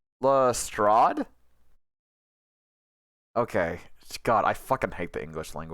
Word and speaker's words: Lestrade: this lestrade you will answer the question wait pronounced lestrade okay god i hate the